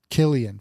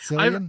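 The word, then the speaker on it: Cillian: How do you pronounce his name? Killian. Killian for sure. Not Sillian.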